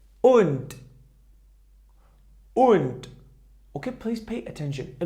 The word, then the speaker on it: und: If the letter D was at the end of the word, it pronounced like weak T. Okay? For example, here we have und.